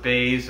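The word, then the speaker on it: Buys: win against cheyenne bays it's spelt byes but pronounced baze where after her victory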